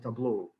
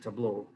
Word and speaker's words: Tableau: data visualizations called tableau how do you pronounce it by the way i pronounce this table is this correct pronunciation well anyway something like this i keep forgetting the correct pronunciation so i'll pronounce it tableau um well last year